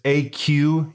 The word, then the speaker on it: Aquoxis: I don't know how you pronounce it. It's Aquoxis.